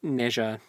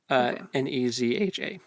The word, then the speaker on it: Nezha: Is it Nejiang? Is that his name? Yes. It's... It's spelled... Where'd it go? I just had it. Oh, it's just Neja. Nezha.